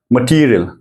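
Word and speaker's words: material: stress करना है सुनिए टी को मैं थोड़ा ऊचा से बोलूंगा मटेरियल टी थोड़ चे से बोलना है टी को थोड़ा एफज करना है त को त मटेरियल समझ र मटेरियल इंग्लिश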